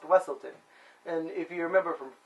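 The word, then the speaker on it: Weselton: He calls himself the Duke of Weaselton, or he says it's pronounced Wesselton.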